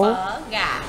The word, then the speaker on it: phở gà: Phở gà.